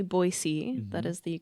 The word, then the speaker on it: Boise: that again it's mountain men they named the boisey river uh La Rivier baz b o i s e e so basically it's French um and if you've noticed we do say boyy that is the correct way to pronounce it